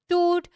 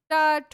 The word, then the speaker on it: Tut: So, in today's video, we are going to cover the chapter Discovering Toot. You can also pronounce it tut or toot or however it's a proper noun, so you can pronounce it anyway.